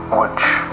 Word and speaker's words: Łódź: Poland, in the city whose name is written Lodz but is pronounced Łódź.